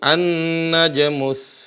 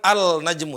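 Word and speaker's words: النجم: Cara bacanya di sini An-najmus saqib. Nah. Jadi ada lam tapi tidak terbunyikan. Enggak bilang al-najmu tapi langsung huruf nun.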